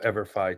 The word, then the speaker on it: EVERFI: education for everyone right that's where that forever and ever Phi comes from the Phi in there